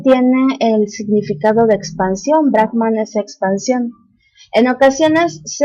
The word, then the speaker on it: Brahman: Los conceptos filosóficos más importantes de las Upanishads son la idea unificadora de Brahman y Atman y el concepto del karma. Ahora, Brahman, mal pronunciado por nosotros como Brahma, es el fundamento, la